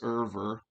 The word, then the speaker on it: Euwe: so most of you listening already know a bit about alakine and and dr max irver by the way that's how his name is pronounced irver so so let's uh take a